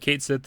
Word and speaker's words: Cait Sith: And then in the picture it says, "In Final Fantasy VII Rebirth, Cait Sith is now pronounced Cait Sith."